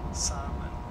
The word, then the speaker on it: salmon: In English, in both cases, you ought to pronounce salmon. Salmon. You didn't know that? The L is fast, so you sound like, it sounds like no, you're not pronouncing. No, the L is silent.